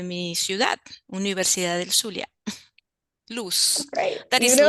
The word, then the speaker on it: LUZ: She holds a bachelor's degree in modern languages and postgraduate degree in educational informatics from LUZ, I think L-U-Z, is it right? Did I pronounce it right, Doris?